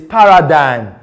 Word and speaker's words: paradigm: We have the word paradigm, not paradigm. It's paradigm. The ma sound is silent.